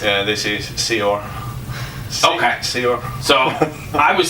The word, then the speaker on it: Saor: it comes to foreign names yeah this is seor okay seor so I was saying seor but